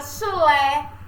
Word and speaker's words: chulé: Mas aí vem a palavra chulé, chocolate. Página 13. Chulé, chocolate, que são escritos com CH, porém na pronúncia, na hora de transmitir para a parte fonológica, ele emite com o som de X.